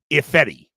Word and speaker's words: Ifedi: Am I pronouncing his name right? I double-checked it, and I forgot. It's Germain Ifedi.